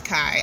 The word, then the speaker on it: Kai: And so after this fight with Jamal, the boyfriend's name is Kai. I should remember that because it's spelled the very same way as my name, which is not Kai, it's K.